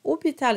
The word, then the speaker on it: hôpital: Hôpital, it's very important to have a nice round closed O because you have the little accent on top of the O.